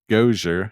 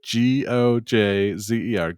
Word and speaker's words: Gojzer: Can you spell that again? G-O what? J-Z-E-R. Okay. Kind of like Gojzer from Ghostbusters, maybe?